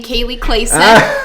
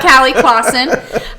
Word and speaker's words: Kali Klassen: lincoln and omaha agents you pronounce my name kaylee clayson not callie clawson um instagram kaylee clayson